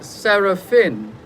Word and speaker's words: Serafin: Dr. Gael Serafin is how it's spelled, but I suspect that this is a foreign name in terms of another language. And maybe Dr. Gael can help us in that regard in terms of just confirming. No, I have a thing with names, you see. Yeah. So I like to find out the origin and the proper pronunciation, etc.